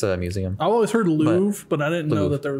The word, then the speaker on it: Louvre: if I can pronounce it correctly. Louvre. Yeah, it's. Louvre. It's a museum. I've always heard Louvre, but I didn't know Louvre, that there was yeah.